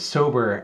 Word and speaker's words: SOBR: that acronym uh and it works because it sounds like the word sober as it applies to alcohol it's like when one